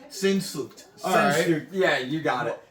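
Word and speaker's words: Sehnsucht: I'm not even gonna be able to pronounce this Let fucking me- name. It's Shanunsk. Sinsucht.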